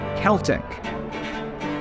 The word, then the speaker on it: Celtic: means anymore for years English speakers pronounced this word with a soft C in all contexts it's how people in